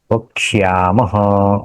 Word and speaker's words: वक्ष्यामः: प्रकार वक्षामः वक्षामः अ हम जब यहां पे अ वक्षामः एक बोलने से क्ष होगा लेकिन जब हम क्षमः होगा तो ठीक ठीक उसको य का भी उच्चारण होना चाहिए वक्षा वक्ष्यामः बोलो वक्षामः वक्षामः अभी उसका अन्वय करेंगे।